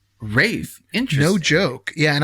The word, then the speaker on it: Ralph: It's actually pronounced Rafe. Rafe?